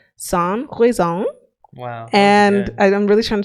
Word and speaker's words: sans raison: And she said it's pronounced it said sans raison.